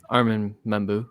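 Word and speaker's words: Armand Membou: And then we have, I mispronounced the name, didn't I? Arman, how do you say his last name again? Armin Membu.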